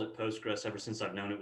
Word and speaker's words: PostgreSQL: the floor is yours oh i just call it postgres you know some people leave off the s it's post gray and and i don't